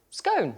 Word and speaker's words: scone: about Jane Jane had said how do you pronounce gone yeah and I said scone and then bluming Helen Webster and then Helen